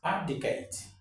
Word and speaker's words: abdicate: Number two here is abdicate. Yeah, the stress is on the first syllable actually. Abdicate, not abdicate. It's abdicate.